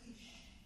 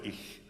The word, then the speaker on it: ich: Well, I do the back CH, so we pronounce it like, what's the word that we always use in English? Heat, or it's that type, so ich. But some people do and that's wrong, and maybe they did